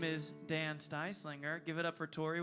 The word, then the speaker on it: Styslinger: slinger a size slinger sorry it rhymes with pie slinger styslinger we're going to take